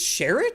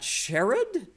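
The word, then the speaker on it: Sherrod: last call for questions Emily Kathleen says it's pronounced sherid it's shered not sherid all right well I like him so I'll say his name correctly I hope he runs for president someday shered Brown uh scrimba says would you be up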